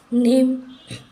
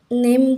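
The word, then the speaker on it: name: पर ई साइलेंट है नेम हम नेम कहते इसको नाम नहीं या फिर ने में नहीं यहां पर ई साइलेंट हो जाता है ब्रिज य पर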